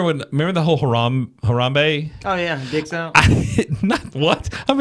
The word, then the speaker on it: Harambe: like much love for harembe or something was their teammate like they would laugh at me every time i'm like am i saying it wrong they're like it's harambe and i'm like oh